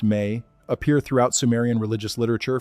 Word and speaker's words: me: The mi pronounced may appear throughout Sumerian religious literature from the earliest text to the latest.